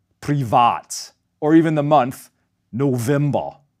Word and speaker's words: November: or even the month November. The V in these borrowed words is pronounced as a voiced VV just like German W.